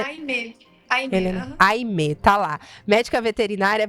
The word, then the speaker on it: Almée: Então, é Aimé.